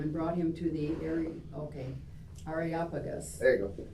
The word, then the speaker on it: Areopagus: Areopagus.